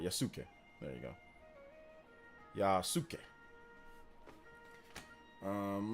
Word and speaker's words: Yasuke: remember how to say it again the Japanese pronunciation is Yas yuk yeah yasuke there you go I want to make sure I say it right yasuke there you go Yas um let's see here